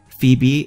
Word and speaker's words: Phoebe: so this is a Phoebe I wait for Phoebe I remember my original pokémon will be walking